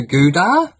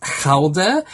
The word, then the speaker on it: Gouda: It's interesting the pronunciation that we have in English-speaking countries that we call the cheese Gouda. In Holland, it's actually pronounced as Gouda, but it wouldn't sound